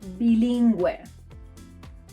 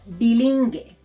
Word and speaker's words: bilingüe: As a result, we get a smiley U, like in the words pingüino, or bilingüe. Bilingüe. Bilingual. If we skip the spell, these words will sound pinguino or bilingue, and we don't want that.